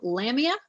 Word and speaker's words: Lamia: it over to Joe Lamia I hope I pronounced your last name right no you did you got it right usually people don't get it right the first time congratulations no hi everybody